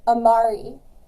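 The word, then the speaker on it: Amaris: Amari, you are next. A-M-A-R-I-S. Glamorous. Sorry. That's okay. Rhymes with glamorous, then people don't forget it.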